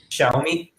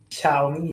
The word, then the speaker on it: Xiaomi: And then not really sure how to pronounce this word. It's a Chinese company. Xiaomi. Xiaomi.